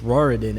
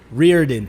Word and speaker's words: Reirden: I was interviewing coach Roridan. I I don't know if I pronounced that right. Sorry if I rearen. Thank you, Reirden.